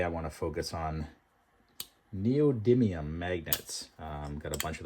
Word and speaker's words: neodymium: It should sound like neodymium magnets. Hope you heard that. For the longest time, I can never pronounce it. I think I called it neodyium magnets or I just in my